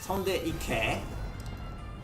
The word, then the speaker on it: Tondeike: It's Tondeike. Sometimes pronounced Tondeke.